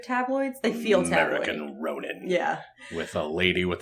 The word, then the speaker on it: Ronin: I know this because of the movie 47 Ronin oh not ronine I've never heard it pronounce groaning Scully doesn't realize that we're all